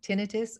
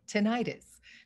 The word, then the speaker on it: tinnitus: Very informative and eye-opening, and thank you for clarifying for the general public that it's tinnitus or tinnitus, because I think most people have always pronounced it the prior way.